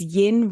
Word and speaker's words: yin: And so in Feng Shui, yin is the sort of, the way I remember is yin rhymes with dim.